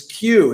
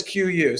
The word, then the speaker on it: QYOU: the best q u we thought stupidly that people would run the letters together and just announce it as q is one word qyou would be pronounced as q no one in history has ever called us q except for uh except for us everybody says cue you so that's why it's